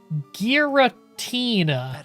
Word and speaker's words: Giratina: It's pronounced Giratina.